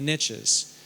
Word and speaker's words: niche: The Americans like to say the riches are in the niches. It's because they don't speak French, and so they butcher the word niche.